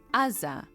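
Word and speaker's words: עזה: The greatest influence for this pronunciation came while translating the Hebrew Bible into Greek as the letter ain can be pronounced both aza and with the more guttural version pronounced rza and is spelled with a g.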